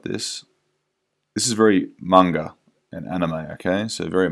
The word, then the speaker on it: manga: And I say manga because I think that's the way you pronounce it. A lot of people say manga, like in the Western world. I think it's manga if you were in Japan. That's how you'd probably say it properly, but if you speak